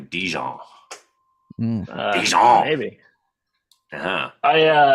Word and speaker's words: Dijon: I think you're supposed to like pronounce the J, like a Dijon.